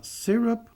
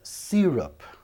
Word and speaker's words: syrup: Xarope, você fala syrup or syrup. É a mesma pronúncia. Syrup Syrup, como se fosse sir, né?